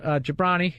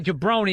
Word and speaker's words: Jobrani: Maz Jobrani. Yes, I say it right. I always want to say Jobrani because of The Rock.